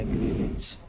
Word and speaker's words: Greenwich: Tulisannya Greenwich, bacanya Greenwich ya.